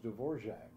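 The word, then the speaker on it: Dvořák: word in there was dvorac because there's no J sound it's d v o r a k oh so you have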